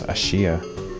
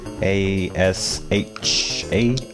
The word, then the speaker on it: Asha: can't pronounce the name I think it's Ashia a-s-h-a Asha Asha that sounds like it Asha that's not a